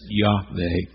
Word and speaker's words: Yahweh: It's been shortened to 4 consonants in Hebrew, YHWH, hence we sometimes pronounce it Yahweh.